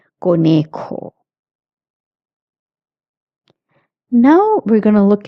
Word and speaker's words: conejo: And in conejo, it's a J, so you have to pronounce it k, conejo.